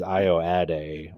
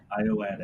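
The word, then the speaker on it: Ayoade: I guess I finally looked up how to pronounce Richard's last name, and it is Ioade or Ioade, Iowatic.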